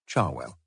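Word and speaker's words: Cherwell: Banbury Road and the river Charwell, pronounced by most of the locals, Charwell.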